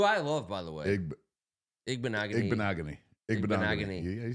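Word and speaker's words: Igbinoghene: Igbenogany.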